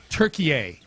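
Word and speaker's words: Türkiye: Um, the US lost to Turkey. That's that is how they pronounce it these days. That's how it was being pronounced on the broadcast last night. Turkey.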